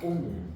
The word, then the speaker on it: 옴: 뭐라고 읽어요, 얘들아? 옴.